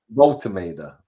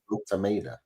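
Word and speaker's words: Woltemade: Voltameda. Volt is in Volt. Yeah. Voltameda.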